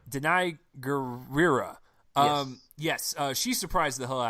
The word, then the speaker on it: Danai Gurira: this one the general actresses name I can't pronounce Oh Danai gurira Danai gurira yes she surprised the ha at me she